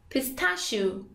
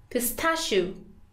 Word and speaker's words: pistachio: You can say pistachio, pistachio, or pistachio, pistachio.